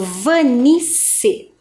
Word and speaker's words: Vanice: Quando nós fazemos a pronúncia do Vanice, dá a impressão que é com C, não é mesmo? Mas o meu nome tem 2 S's.